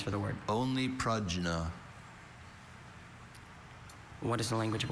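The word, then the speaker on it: prajna: Are there any alternate pronunciations for the word only? Pragna.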